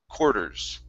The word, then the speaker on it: quarters: Okay, now here, some people do say quarters, okay, and they pronounce an R, but in most cases, in this word, okay, we say an OR sound. We pronounce this quarters. Quarters.